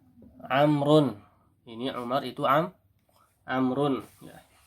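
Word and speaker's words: عمرو: Adapun di sini bacanya apa? Amr ya. Amrun.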